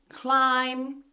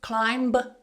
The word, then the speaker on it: climb: Don't try and pronounce the B when you have that combination of M and B together. So for example, in the word bomb, climb, tomb, we don't say bomb, climb, tomb. The B is silent in all of these words.